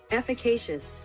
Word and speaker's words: efficacious: Uh, efficacious.